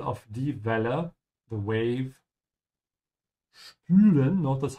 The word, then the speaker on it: spülen: Spülen, notice how I'm pronouncing the S, because it comes before it is pronounced like sh.